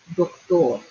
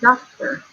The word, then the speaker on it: doctor: Remember that O says O. O. So this word is going to be doctor. Doctor. Okay? Not doctor. It's doctor.